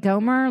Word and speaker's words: Gohmert: It's Gohmert, by the way. You're giving him a very fancy pronunciation. Louis Gohmert. Oh, it's Gohmert? Gohmert. Ew. Yeah. Like Gomer, like from Andy Griffith.